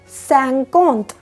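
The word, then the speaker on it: cinquante: कैरोंत सीस 50 के आगे अब हमारे पास सैंकोंत, सैंकोंत, सैंकोंत, ठीक है।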